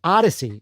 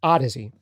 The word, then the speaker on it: Audeze: the how does he or I should say Odyssey is actually how you pronounce it I know it looks like it'd be out of Z or Odyssey but it's pronounced Odyssey um these headphones were the ones that were